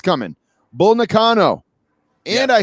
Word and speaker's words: Bull Nakano: Bull Nakano.